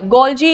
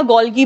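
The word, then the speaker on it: Golgi: तो क्या है इसका गोलजी या गोलगी बॉडीज भी बोलते हैं कुछ ठीक है सो आपको जैसा भी प्रोनाउंस कर देखो pronunciation person to person differ करता है ठीक है सो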